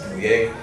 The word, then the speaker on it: Dannia: Yes, Danye.